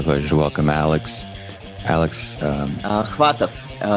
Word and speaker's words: Khvatov: Alex Khvatov. The K is silent. Alex Khvatov.